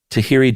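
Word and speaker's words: Tahirih: Uh, I think the uh how do you pronounce that? I want to say um Tahi Tahhiri Tahhiri Justice Center they estimate between 11,000 and 16,000 uh women immigrate each year through a marriage broker.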